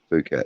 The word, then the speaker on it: Phuket: It's probably pronounced Phuket, but you can guess that it's that's Phuket. Yeah, Phuket. Yeah, no, Phuket.